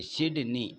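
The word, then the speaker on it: Sydney: बताना है यह है साइनी किससे साइन साइनी भी बोला जाता है इसको या सिडनी भी बोल सकते सिडनी ऐसा उच्चारण करिएगा कि बॉबी पियर्स से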